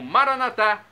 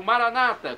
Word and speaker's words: Maranata: do aramaico Eu Clamo maranat como dizemos nós católicos ou Maranata como dizem nossos irmãos separados os evangélicos ou protestantes não importa pronúncia o significado é o